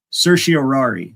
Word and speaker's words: certiorari: it's the writ of man, remembering how to pronounce this word is difficult. What is it? Certiorari.